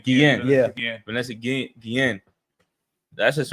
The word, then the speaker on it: Guillen: You got Vanessa Gillian. Right. Vanessa Guillen. How you say her name? Guillen.